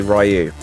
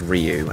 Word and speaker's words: Ryu: hear Sagat or Sagat if you want to pronounce it in the most obvious English language way say rayu so yeah I say rayu but it's Ryu and Ken and I'll try to get it